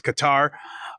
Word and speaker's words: Qatar: add Qatar or I I've pronounced it quar but it's Qatar they'll have to add